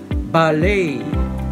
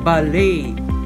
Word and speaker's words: ballet: we've taken from france in british english the word would be pronounced ballet ballet with stress on the first syllable americans would pronounce the word ballet ballet number four now we